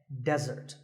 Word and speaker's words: desert: not be confused with desert here the stress is on the first syllable which is dead desert now I said that